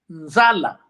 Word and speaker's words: nzala: Pronuncia-se Nzala. Nzala, como escreveste mesmo, quando se trata da unha. Agora, fome, nzala. Tipo, tem dois A.